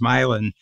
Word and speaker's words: Milan: it was called Milan same as Milan Italy but it's pronounced milin in the 1820s and